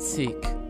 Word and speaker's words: Sikh: The word Sikh, sometimes pronounced Sikh, means student.